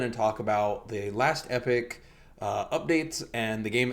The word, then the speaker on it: Epoch: yourself it's literally last epic it's like people call it last Epoch but if you put in Epoch into Google pronunciations it's apparently supposed to be read as Epic I guess that I